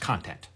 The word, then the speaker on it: content: love your content can you break down some of the different roles that staff writers play well I don't mean to embarrass you but it's pronounced content so there's only two roles there's the showrunner